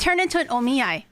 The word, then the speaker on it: omiai: I oh me I it's turned into an omiyai it's not a collab anymore it's an omiai yes it's the only eye oh man the